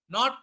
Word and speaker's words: know: And how do we pronounce this? King, not king.